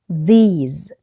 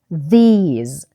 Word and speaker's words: these: When we pronounce TH we put our tongue between our teeth. بنحط طرف لساننا بين أسناننا، فهقولها these these these.